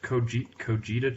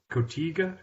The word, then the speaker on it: Cotija: It's this Mexican cheese, Cojita cheese. Cojita cheese. Have you heard of Did that? you pronounce that right? Cojita cheese. Cottage cheese? Not cottage cheese. Cotija.